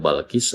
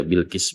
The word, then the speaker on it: Bilqis: Bikasril Bai dikasrkan bnya. Jadi memang kita tahu ada yang membacanya Balqis, ada juga yang membacanya Bilqis. Tapi yang afsahnya paling fasohatnya itu dengan dikasrkan bnya dibaca Bilqis begitu ya.